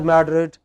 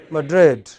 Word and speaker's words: Madrid: of spain okay so in english it is pronounced not as madrid but as madrid not at berlin but berlin not at brazil but brazil very erratic you know look